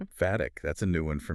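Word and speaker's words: phatic: In linguistics, it's sometimes called fhatic communication. Fatic. That's a new one for me. How do you spell that?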